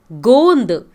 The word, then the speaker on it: गोंद: गोंद GONDH, ऊपर एक डॉट लगेगा, उसे गोंद कहते हैं. गोंद का मतलब गम, जिगरू. गेंद, गेंद का मतलब बॉल. एक मात्रा का फ़र्क है. आप सही से नहीं प्रोनाउंस किए तो पूरा सेंटेंस बदल जाएगा.